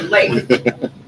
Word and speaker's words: Leif: And I actually asked because I've heard it pronounced 4 different ways. So Yeah. Leif.